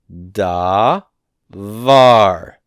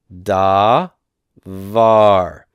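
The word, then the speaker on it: דבר: this word right here this is the word da VAR da VAR and this is the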